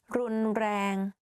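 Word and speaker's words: รุนแรง: The only difficult part is you have to click your tongue while you're speaking like r. You can try r, r, r, r, r, r, like that.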